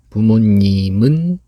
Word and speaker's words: 부모님은: 부모님, this 미음 goes to here. 이응 is silent.